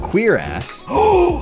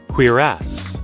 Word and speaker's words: cuirass: And then you've got cuirass. You better f***ing listen. Cuirass.